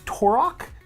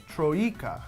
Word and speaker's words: Troika: So Vampire the Masquerade was made by Torok. It's a really hard name to pronounce. Where is it? Troika.